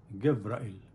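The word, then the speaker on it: גבריאל: Hebrew word ہے، اور Hebrew میں کہا جاتا ہے انہیں گبرائیل، گبرائیل، گبرائیل کے معنی ہے اللہ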